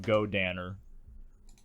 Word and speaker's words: Godannar: And then when he fuses with the chick they become Go Danner. Go. Go. Danner. What's the main character? But it's spelled Dinar.